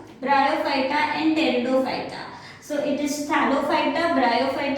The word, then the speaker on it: Pteridophyta: Here the word Pteridophyta, the P is silent, that is why it is pronounced as Pteridophyta.